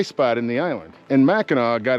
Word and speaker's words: Mackinac: And those that pronounce it Mackinac, everyone looks at them with an eye of suspicion, because no matter how it's spelled, it's Mackinac.